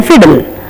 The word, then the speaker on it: fiddle: And then fiddle, double D here, but we pronounce single. So we are not supposed to say muddy.